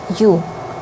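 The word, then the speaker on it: у: The next one is letter u. It is pronounced pretty much the same as the word you, English word you, and the sound is also very close to the u in words like use or universe.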